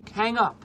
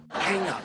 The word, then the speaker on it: hang up: Обратите внимание на произношение. Hang up. Hang up. Hang up. Здесь из-за того, что после звука «э», как в слове «cat», идет звук «ng», да, носовой звук «н».